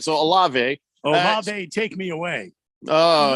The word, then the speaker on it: Olave: Maybe Dak has a question, but before I ask it, did we ever agree on the pronunciation? Is it Olave? It's Olave.